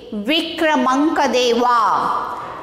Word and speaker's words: Vikramankadeva: Next, V I K R A M A N K A D E V A. Vikramankadeva. How to pronounce this?